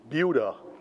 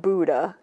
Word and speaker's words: Buda: town we discovered that the correct pronunciation is Buda not Buddha even though the town is named after Budapest it is pronounced located 85 miles Southwest of Rockford Illinois Buda is a small town